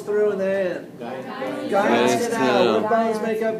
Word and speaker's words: Guyon's canal: Guyon's Guyon's canal. canal. What bones make up Guyon's canal? Guyon's canal. I'm sure it's French and Guillaume or something like that.